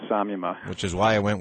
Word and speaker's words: samyama: I think in India they say Samyama. But I follow the English letters. I'm not a Sanskrit scholar, so I go with Samyama.